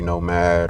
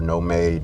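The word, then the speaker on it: Nomade: Um, this is a part of their oud line, which y'all may be familiar with like Ombre Nomad or No Made, depending on how you pronounce it, which is another super crazy oud fragrance.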